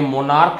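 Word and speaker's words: monarch: लेकिन अगर मैं यूनेक शब्द का प्रयोग करता हूं या मोनार्क शब्द का प्रयोग करता हूं तो ये सी एच के का साउंड लेता है, यानी ये यूनेक है और ये मोनार्क है, तो इनको बहुवचन करने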